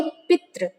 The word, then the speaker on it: पितृ: पितृ शब्द यानी यदि आप विदाउट माइक ऑन किए हुए यदि आप वहीं पर प्रोनाउंसिएशन करते हो इसका, तो आप बोलेंगे पितृ। जो री होता है, री, जो हमारे जो स्वर